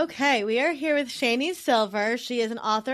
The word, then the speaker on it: Shani: we are here with shanie silver she is an author and podcaster originally from Fort Worth Texas and her name is pronounced like Rainey with a sh and I'm adding that